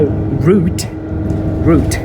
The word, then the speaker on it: route: it so that's why root root this word is British pronunciation and I pronounce this route so and uh spelling